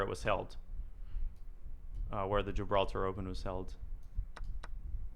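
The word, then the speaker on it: Gibraltar: Or as the locals say, Jibralta, Jibralta, Jibralta, Jibralta.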